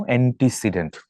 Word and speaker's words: antecedent: Look at the spelling, বানানটা দেখাও, অ্যান্টিসিডেন্ট, নট ANTI, আই না কিন্তু, ANTECEDENT, অ্যান্টিসিডেন্ট।